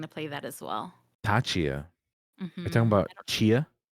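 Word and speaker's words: Tchia: Tachia. You're talking Mhm. about Chia? Yes. I But pronounced the T. The T's there. Tachia, yeah.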